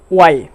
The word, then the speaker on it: why: তো এক্ষেত্রে এর উচ্চারণ হবে কি ওয়ার, WHERE, ওয়ার। সেম আরেকটি শব্দ যদি বলি ওয়াই, কেন, ওয়াই have you come here, তুমি এখানে কেন এসেছো।